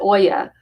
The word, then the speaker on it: olla: Um, well, OLLA is the Spanish way of saying it, but you pronounce it Oya.